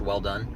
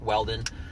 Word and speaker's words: Welldone: I'll say it again it actually is pronounced well done but phonetically but it's not written that way so that's why I spell it that way people are like is that how it's spelled no but that really is my last name that's that's actually how it's pronounced but everybody just pronounce it welded and and I don't